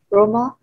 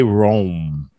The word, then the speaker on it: Rome: Well, that's not how we say it in English. And maybe that's how they say it. I'm not sure how they say it in Italian. No. Yeah. Roma. But we're going to give that. In English, we say Rome. Let's see. I don't know. Roma. I've heard that too. Let's see. Rome pronunciation. I've heard many people say Roma. Rome. All right. So in English, it's Rome.